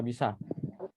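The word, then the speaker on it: بِ: Sedangkan ini cara bacanya apa? Ini bukan ba, bukan bi, bukan bu, bukan ba, bukan bu. Tapi bacanya apa? Bi.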